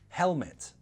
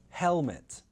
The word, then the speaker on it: helmet: Another word could be helmet, helmet. There's a consonant sound after the L, so helmet, helmet.